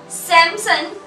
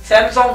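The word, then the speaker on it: Samsung: सैमसंग सही थी pronunciation मेरी? No, सैमसंग नहीं, मुझे लगा कि शायद आपने सही प्रोनाउंस किया। No, not सैमसंग, सैमसंग। अच्छा, सैमसंग। या अच्छा, ये जी साइलेंट हो जाता है?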